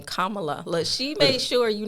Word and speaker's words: Kamala: we want to give kamla I try to say her name Kamala look she made sure